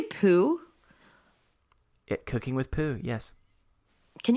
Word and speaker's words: Poo: And I don't know if you pronounced it right. Did you say poo?